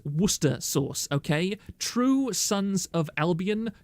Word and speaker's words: Worcester: sister sauce yes um the plebians call it War Chester Shire SCE uh those kind of people should be killed on site you should hang them it is Worcester Source okay true sons of